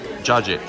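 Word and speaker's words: cacık: back to the appetizer the c's are pronounced like j's so it's jajik is how we pronounce the dip but we ordered okay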